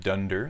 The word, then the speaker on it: dunder: Now again, that double underscore is pronounced dunder, so dunder init.py is a required element when you work with packages inside of Python.